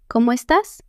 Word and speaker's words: cómo estás: Como estas means how are you? It sounds like como estas. Say it with me. That accent on the a tells you to push the last syllable. Es tas.